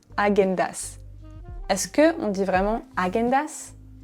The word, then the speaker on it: Häagen-Dazs: En français, on dit plutôt Häagen-Dazs. Häagen-Dazs.